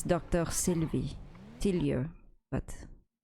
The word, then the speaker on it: Sylvie: a little bit difficult sometimes for people to pronounce it's all right it's Dr syv Sy but Sylvia no syv no a sorry there's something wrong